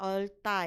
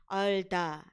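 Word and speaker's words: 얼다: Ini bacanya olta ya, bukan olda gitu.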